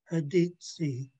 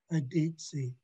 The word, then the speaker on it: Aditsi: The Haida letter A, we pronounce it like the U in the English word sun. And our Haida word is Aditsi, which means woods, Aditsi.